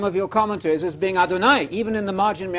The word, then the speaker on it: Adonai: Adonai, Adonai, Adonai. You know Adonai. It rhymes with El Shaddai, El Shad.